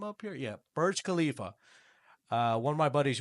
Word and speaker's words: Burj Khalifa: So, yeah, that was the Burj Khalif. Uh, is that how you say it? is how is no one have the name up here? Yeah, Burj Khalifa.